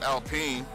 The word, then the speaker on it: Alpine: it's a French fucking name and it's like pronounced Alpine.